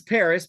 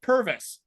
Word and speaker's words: PVRIS: it's spelled S8 so so this is Paris pvris which I talked about so I call it Purvis yes but that's not even remotely close to me they're